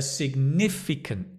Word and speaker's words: significant: A significant challenge. The accent is on the ni.